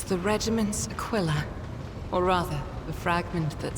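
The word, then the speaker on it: Aquila: of Darkness okay so so she is saying Aquilla which I feel is a different pronunciation of the word but she is definitely saying Aquilla like q i l l like the quill of a porcupine Aquilla okay so it's not a Kila huh yeah it's a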